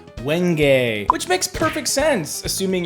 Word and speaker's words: wenge: this is wench I'm just kidding it's pronounced wenge which makes perfect sense